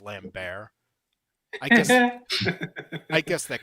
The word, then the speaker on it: Christopher Lambert: By the way, it's pronounced Lambbear.